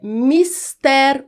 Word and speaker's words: mister: Trata-se de uma oxítona, ou seja, a sílaba mais forte é a última, ter. A pronúncia correta é mister. Mister rima com mulher, com colher. Então é mistéri o combate à pobreza.